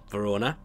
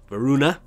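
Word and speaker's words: Voruna: in lua's prayer that would be Verona varuna I keep getting I keep pronouncing that wrong and I noticed a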